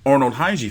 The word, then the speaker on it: Khegai: Shit, I'm more interested in the Steve Fulton versus Arnold Khegai fight. The K is silent.